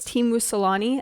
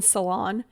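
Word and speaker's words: Teemu Selänne: His pronunciation was Timu Salani, I think is how he said his name is pronounced. and I kept saying salon.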